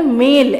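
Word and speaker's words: Malé: Next है मालदीव्स, हमारा बहुत अच्छा नेबरिंग आइलैंड है ये, और इसका कैपिटल है मेल, MALE, मेल, और इसकी करेंसी है रूफिया।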